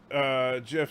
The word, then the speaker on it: GIF: Aberdeen says the creator of GIF says it's pronounced GIF. However, he doesn't dictate grammar and correct grammar. It's a hard G because it stands for graphic.